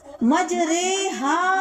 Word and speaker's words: مجریہا: بھی یاد رکھیں کہ قرآن مجید میں لفظ مجریہا آیا ہے، اس کا تلفظ مجریہا ہوگا، یعنی مجریہا کی را کو اردو لفظ قطرے کی را کی طرح پڑھا جائے گا۔ اس را کو را امالہ کہتے ہیں۔ قرآن مجید میں 4